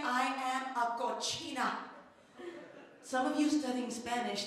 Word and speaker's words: cochina: say, I am a cochina. Some of you studying Spanish think that I am a kitchen. That is pronounced cocina. Cocina is kitchen, cochina is filthy pig.